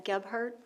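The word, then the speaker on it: Gebhardt: Darlene Osgood, 1 19355 Gart Road, Brookfield, Wisconsin 53045. Can you please repeat the street and spell that for me? Yes, I can. Ghart Ge B H A R DT road.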